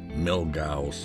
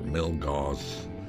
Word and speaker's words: Milgauss: rolex z blue dial milk cows or milk cause there's different ways people pronounce even the name of it and and it